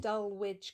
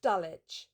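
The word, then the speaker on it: Dulwich: When you were talking about Lawrence Beasley, you said he worked at Dull Witch College. We're weird in England. You know that we pronounce everything differently. It's Dulich. Dulitch. Dulich College.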